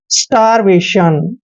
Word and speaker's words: starvation: दोस्तों यहां से यहां तक पढ़ते हैं STAR, इसको पढ़ते हैं हम स्टार, स्टार। और VA का उच्चारण व और ए की मात्रा करेंगे, और TION को शन पढ़ेंगे, यानी कि वेशन।